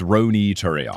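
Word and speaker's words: Ronny Turiaf: I'm going to pull it up on basketball reference to see uh according to the basketball reference pronunciation page. It is Rooney Turo.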